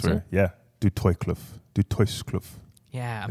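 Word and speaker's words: Du Toitskloof: Yeah, So, not the name of the stream, but the area, Du Toykloof, Western Cape. is that how you pronounce That's it? where, yeah, Du Toykloof, Du Toykloof.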